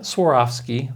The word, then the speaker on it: Swarovski: Swarovski, that's the high-end ones.